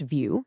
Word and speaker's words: Vue: First off, it's pronounced view, just like looking at something.